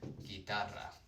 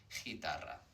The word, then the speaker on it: guitarra: need to do, basically GU followed by an E or an I, it's just protecting the hard G sound, like in the word guitar, guitarra. I'm not saying guitarra, it's just, here the U is just protecting the G sound, so it doesn't become ch, guitarra.